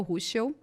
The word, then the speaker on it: Ruschel: E a primeira coisa que a gente já quer saber é quem é a Ruschel, né? É assim que pronuncia teu sobrenome.